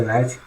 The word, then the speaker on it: knight: not the case the knight is symbolized with the capital letter n because in english as you know the k n k n is pronounced as n so the knight is